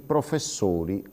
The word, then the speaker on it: professori: Sentite la differenza: il signore con la O aperta, i signori con la O chiusa, il professore con la O aperta, i professori con la O chiusa e così via.